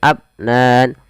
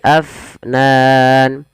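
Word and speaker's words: أفنان: Alirkan nafasnya jangan abnan, tapi afnan.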